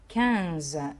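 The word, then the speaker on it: quinze: كانز الاي والان اللي هي موجوده في النص اللي بعد الكو اللي بقينا ننطقها ان.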